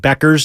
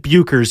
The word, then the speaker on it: Becker: I totally butchered Paige Becker's name and I did submit that for one of the submissions for mispronunciation I I said buers yeah Beckers so I threw that